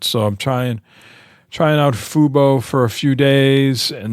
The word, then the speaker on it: Fubo: Is that how you pronounce that? Fubo. Yeah. Fubo.